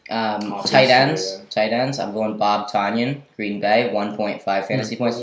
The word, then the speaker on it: Tonyan: Tunyon. No. It's Tonyan. Bob Tonyan. It's 1.5 points. Like ton.